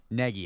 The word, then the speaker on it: Nagy: Nagy Nagy I'm sorry I have to get this right. It's pronounced like N E G Y. Peggy. Yeah like Peggy.